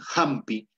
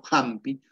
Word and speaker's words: hampi: comoo es la pronunciación el que sabe hablar dice hampi hampi si te hace una pronunciación este como el gras nido del pato jampi hatun hucha jucha hatun